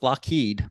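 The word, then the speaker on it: Loughead: When Alan we're gonna go with Lockheed but it's spelled l-o-u-g-g-h-e-a-d fun fact there's some back and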